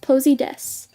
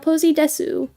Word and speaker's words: PoseyDesu: It's And by the way, it my username it's pronounced Posid Des, not Posey Desu.